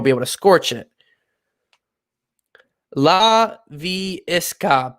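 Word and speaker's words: Laviska: able to scorch it la vie esca basically just how it pronounce how it looks laviesca la fiasco it's a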